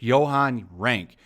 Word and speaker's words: Johan Renck: So I think it's Johan Renck.